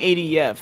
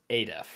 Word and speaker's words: Adif: I was saying ADEF, and then everyone else said Adif, and I was like, oh, I'm doing this wrong. It's been pronounced 1,000 ways by 1,000 people, but sort of the, and I sort of just let that happen for a long time because I didn't care very much. But the pronunciation I have settled on is Adif.